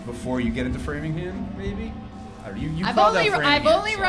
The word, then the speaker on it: Framingham: You're running through, you got Hopkinton, Ashland, Farmingham, Natick, Wellesley, Newton, Brookline, and then Boston. I knew that. I had that in my head. I didn't forget that. Framingham.